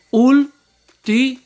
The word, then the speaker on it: último: Último. ¿Cuál de ellas es la sílaba tónica? Escúchala. Último. Muy bien. Ul.